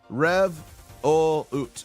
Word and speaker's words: Revolut: Rich is saying it's pronounced Revolut. Oh, thank you, Revolut. Revolut. Thank you. I was saying Revolt.